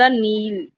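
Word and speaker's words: kneel: द नील, इसके example है द नील। तो दा पे स्ट्रेस नहीं है, नी के साइलेंट है, इसीलिए एन पे स्ट्रेस है, द नील।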